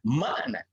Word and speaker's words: makna: Dalam bahasa Arab itu ada hamzah yang bunyi di glottostop di sini yang makna. Ya. Maklumat. Kan begitu ya. Nah, dulu ejaan zaman Belanda itu memakai tanda.